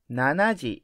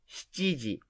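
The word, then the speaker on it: 七時: lokuji lokuji seven o'clock seven in japanese is nana or so you think which to use when you describe time nanaji is not really wrong we mostly say gg when we describe 7 o'clock but we sometimes use nanaji for avoiding mishard because how to pronounce chiji is similar to one clock eg that's why i said nanaji is not really wrong so basically seven o'clock in japanese is shiji shjiji eight o'clock eight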